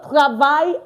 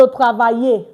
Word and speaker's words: travaille: Je travaille à Bordeaux. Not je travaillais. No. No, no. When it ends with E like this, we do not pronounce the E. So it's simply je travaille.